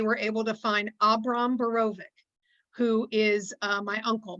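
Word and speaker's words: Borowik: with the name of berovic b-o-r-o-w-i-k um in polish the w is pronounced as a v anybody with the name of barovic or druian d-r-u-j-e-n that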